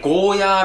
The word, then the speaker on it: ゴーヤー: It's not Goya. You have to pronounce it like Goh-yah.